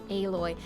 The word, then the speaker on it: Aloy: Alloy. If it's spelled like alloy, then it should be pronounced alloy.